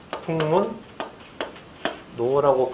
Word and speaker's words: 북문로: 그러면 이름 하면 발음이 어떻게 되냐면 북문 노라고 발음돼요. 그죠? 북문 노라고 발음돼요. 북문 노.